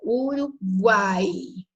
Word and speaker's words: Uruguai: Então, quando eu falo Uruguai, tá vendo? Ó, o A é forte. Então, eu tenho o U, que é pronunciado, mas é leve, o A, que é forte, e o I, que é uma semivogal.